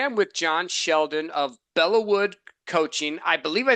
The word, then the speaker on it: Belleau Wood: It's Belleau Wood, so well done, Okay.